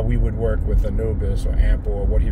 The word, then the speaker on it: Anubis: language that predated but Anubis is the Greek way to pronounce the name which everybody is familiar by ample or Anubis goes back you get